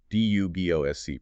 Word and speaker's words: Dubosc: So you get Dubosc, D-U-B-O-S-C, pronounced Dubosc back in France.